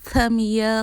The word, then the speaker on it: Tamia: If you don't already know, my name is Tamia. The A is silent, you know.